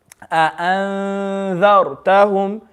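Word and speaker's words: أنذرتهم: So when this happens, you read the noon very faintly. Anzar. You go straight away to the next letter. You don't pronounce it, but you go straight away to the next letter. Anzartahum.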